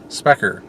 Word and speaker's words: Sprecher: And we are roaming around Wisconsin still in Milwaukee, and we have decided to stop off at, I believe it's pronounced Sprecher? Sprecher.